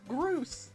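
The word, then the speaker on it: Groose: Looks like if any minute the he looks like Gruce. He rhymes with Moose.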